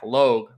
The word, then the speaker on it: Logue: bay at toronto and zach logue because i wrote it down l-o-h-g just so i would say it properly zach logue first the marlins versus